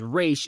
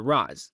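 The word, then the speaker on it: Ra's: the way I know the actual pronunciation is re and not RZ but that's how he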